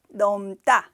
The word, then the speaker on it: 넘다: 것을 넘다 이야기를 합니다 둘 다 길게 발음해야 돼요 남다 넘다 이렇게 이렇게 자 이제부터 설명 본격적으로